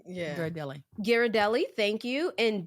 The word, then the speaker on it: Ghirardelli: I should know how to say this but Gerald Deli Ghirardelli yeah Ghirardelli thank you and D baker's chocolate what's the